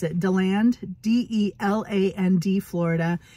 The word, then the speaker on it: DeLand: I don't know how to pronounce it. DeLand, D-E-L-A-N-D, Florida.